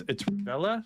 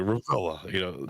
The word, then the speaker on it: Revilla: So it's Revilla. Is that wrong or right? That's because I'm from Pittsburgh, so depending on where you are in the country, the pronunciation changes from anywhere from like